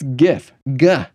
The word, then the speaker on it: GIF: It's GIF, GIF, not Jeff with an I, GIF, okay?